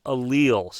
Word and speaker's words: allele: getting into okay so there are what's called alleles this is pronounced allele and they are forms of a